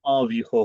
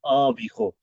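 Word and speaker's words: environ: इसको जब आप प्रोनाउंस करते हैं तो वो अविहो होता है, अविहो।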